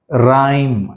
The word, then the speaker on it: rhyme: Rhyme, H silent.